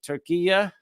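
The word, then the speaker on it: Türkiye: Sudan, Suriname, Syria, Saudi Arabia, Tajikistan, Togo, Tunisia, Turkey, which has changed the pronunciation to Turkiya, I guess.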